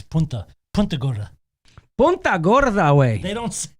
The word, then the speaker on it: Punta Gorda: It's Punta Gorda.